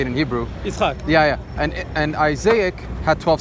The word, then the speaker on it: Yitzchak: Yitzchak.